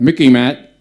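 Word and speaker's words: MICIMATT: now look it up Mickey mat rhymes with Mickey Mouse so you can remember it it's what Eisenhower warned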